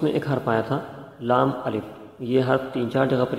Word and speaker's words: لام الف: کیا جائے تو وہ لام ملف کی آواز بن جاتی ہے، حالانکہ یہ حرف لام الف ہے، ملف کوئی حرف نہیں ہے۔ تو یہ ایک بڑی